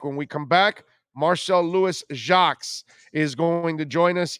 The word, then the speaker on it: Louis-Jacques: No, it's Louis-Jacques. It's Haitian, actually. So I think a lot of people down in Miami will, will recognize it a bit. All right, so Louis-Jacques is the way we say it, right?